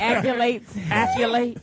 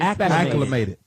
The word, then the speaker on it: acclimated: Like accolate. Yeah, that's our How do you say it? vocabulary. Acclimated. Acclimated.